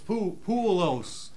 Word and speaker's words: Poolos: Poolos, we figured out. Tim called. Yeah, I was saying it wrong. It's Poolos.